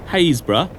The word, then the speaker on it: Happisburgh: Haysborough, or as it's spelt, Happisburgh, the cliffs are retreating at a yard a year.